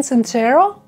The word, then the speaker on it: Sincero: So the next book on my bookshelf is You Are a Badass by Jen Sincero. Yeah, so that's how the name is pronounced and I was just butchering her name earlier, so I'm extremely sorry for that.